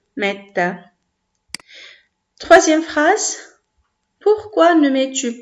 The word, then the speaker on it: mettent: Donc ça, c'est la deuxième constatation, mis à part la terminaison en ENT, qu'on prononce E, metta.